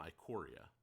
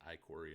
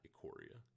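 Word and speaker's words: Ikoria: so it's three color decks uh from iquoria i think it's iquary and not aquaria just depends on what kind of uh pronunciation they went with yeah um i gotta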